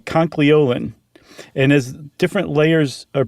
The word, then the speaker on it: conchyolin: Conchyolin. Yeah, you're throwing that L in there. Oh. It's very easy to want to do.